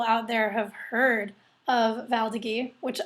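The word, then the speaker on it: Valdiguié: Yes, everybody used to pronounce it Val d'Agui until some French people came in my tasting room and said, no, it's Val d'Agui. So I've been pronouncing it that way ever since, and I think it's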